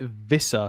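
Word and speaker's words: Wissa: It's Whissa, by the way. Alex, is it actually? He actually said Whissa. French pronounces it Vissa.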